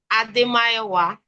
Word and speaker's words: Ademayowa: Okay, so it's pronounced Ade-Sounya. Ade-Mayowa.